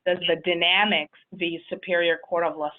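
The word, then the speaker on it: Dynamex: in April of 2018 with the decision properly pronounced as the dynamics the Superior Court of Los Angeles right and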